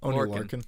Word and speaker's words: Lorcan: pronounce his last name Lauren Lauren Lauren it's like the Orkin Man but with an L anyways let's just call